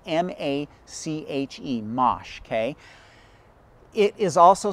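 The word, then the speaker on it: mâche: want to be planting in October is called Mache. Okay, Mache is a plant that a lot of people are not really familiar with. It's spelled M-A-C-H-E, Mache.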